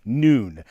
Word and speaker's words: nun: bad joke it was a hebrew letter pronounced with a long o like noon uh here you can see one of my historic scrolls taurus scrolls with the letter noon now very rarely the